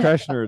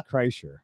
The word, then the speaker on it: Kreischer: Kreshner, it's Kreischer. Kreischer? Yeah. I've heard it pronounced different.